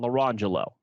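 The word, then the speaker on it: Orangejello: There were two twins, and their names were Lamangelo and Larangelo, and it was spelled orange jello and lemon jello.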